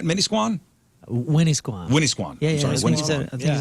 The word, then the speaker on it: Winnisquam: Swimmy Winnisquam. That is how you pronounce it.